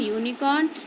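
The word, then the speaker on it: unicorn: यूनिफॉर्म एंड यूनिकॉर्न they both begin with you. Vowel letter. You हमारा vowel letter है. ठीक है. ये यू से स्टार्ट हुए हैं, शुरू हुए, but they are pronounced beginning with a consonant sound you.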